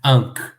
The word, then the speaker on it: ankh: Então, por exemplo, nós temos aqui Ankh, né? A cruz sozinha vale pelas 3 consoantes. An, Ain, N e R, K, né? Ankh.